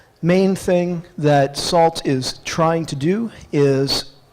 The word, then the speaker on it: NaCl: tell you about is this new salt library nacl so pronounce that salt which is aiming at